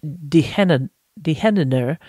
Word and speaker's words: De Hennener: His business is called, I'm going to say it in Dutch, De Hennener. We would pronounce it like De Gardener, but the G is pronounced as a H.